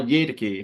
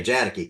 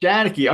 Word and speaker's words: Jadicke: I think it was Carl Yadicke, if I'm pronouncing his name right. It's a hard J, Jadicke, Carl Jadicke. Jadicke.